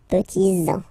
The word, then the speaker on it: petits-enfants: Okay, so les petits-enfants, make this liaison here, petits-enfants, petits-enfants, okay?